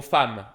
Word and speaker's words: femme: exemple, ok, exemple, si je dis le mot femme, ok, là, quand on écrit femme, on écrit F-E-M-M-E, et là, quelqu'un pourrait lire ça, penser on dit femme.